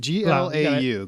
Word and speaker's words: Glau: This Summer Glau, is it Glau? G-O? What the hell do you spell it? G-L-A-U, Glau.